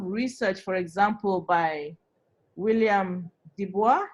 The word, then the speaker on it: Du Bois: All right, so there's a lot of research, for example, by William Dubois. Is that how you say his name? Dubois or Dubois? D-U-B-O-I-S. I think it's Du Bois. Du Bois, exactly.